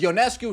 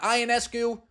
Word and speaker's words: Ionescu: say the correct pronunciation I was told it was yonescu not ionescu from that point forward